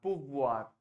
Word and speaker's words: pouvoir: See, OU is oo. OU का sound होता है ऊ का sound. तो POU हो जाएगा poo, right? POU हो गया poo. And VOIR में OI का sound आपको याद होगा ua. OI is ua. So VOI हो जाएगा voix. So pouvoir is the sound that you have. Pouvoir. Right? आपको R तक touch करना है.